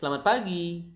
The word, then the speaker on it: pagi: p p so the natural speed would be pagi the slow speed would be okay so again